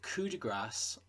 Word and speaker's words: Coup de Grâce: Alright guys, the 8th Firefly novel, Coup De Grâce, and yes, that's how you pronounce it, I looked it up, has just been announced.